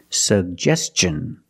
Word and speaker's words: suggestion: pronounce both sug Gest suggestion and Tin the T makes the CH sound so together suggestion suggestion but stress on the second syllable he made a suggestion